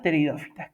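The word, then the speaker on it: pteridófitas: Acuérdense que se escribe con t como si fuese de psicología, pero no se pronuncia la P. Tenemos las teridófitas, que estas, a diferencia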